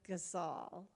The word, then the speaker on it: Gasol: And so, my name is Gasol. It rhymes with y'all, something I picked up when I lived in Texas. And so I hope y'all vote for Gazal.